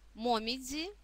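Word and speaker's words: 紅葉: Дальше у нас момидзи. Момидзи – это желтые и красные листья клена. Осенью, конечно, принято любоваться такой красотой в Японии. Нас в данном контексте интересует произношение слога «дзи», да, «момидзи».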